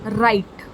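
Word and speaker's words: wright: now sixth word is right right in this word i have added just one letter that is w and it forms right w is silent so we pronounce the word same as write now coming to question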